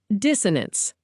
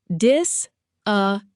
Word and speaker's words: dissonance: Dissonance, pronounced dis-uh-nance.